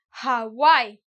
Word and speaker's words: Hawaii: Hawaii, same thing. I'm pronouncing the H, as if in Spanish I would be listening to a J, Hawaii.